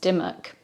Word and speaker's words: Dymoke: m ke die oak it's more commonly pronounced Dimmick Robert Dimmick was born